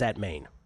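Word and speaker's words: Atmane: Saturday was on Terance Atman. Terance Atman or in English we say Terrence at Maine. Yep. That's how that's how it looks phonetically for us uh us Americans.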